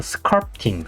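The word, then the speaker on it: sculpting: 하시는 분들 있고 어떤 사람은 스크럽팅인데 이제 정확한 발음을 약간 꼬아서 스컬프팅 스컬프팅이라고 하시면 돼요 그리고 그렇게 알고 계시면 되겠습니다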